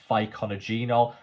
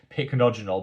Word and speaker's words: pycnogenol: channel here on YouTube, I actually used to refer to it as pycnogenol. I've corrected that. That was never the right way to pronounce this ingredient. I learned that lesson. I'm now pronouncing it correctly, which is pycnogenol, but I think because